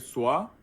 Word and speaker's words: soir: J'étais Wait, soir or soir? soir With R, yes, hier pronounce R.